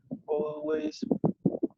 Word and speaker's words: always: The popular DJs always late. But the popular DJs always. And Always. letter L is not pronounced.